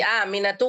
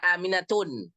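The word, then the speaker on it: آمنةُ: akan dibahas nama-nama itu ada sebagian nama kita tidak boleh membacanya bertanwin seperti aminatu enggak boleh dibaca aminatun jangan ditanwinkan ya jangan di tanwinkan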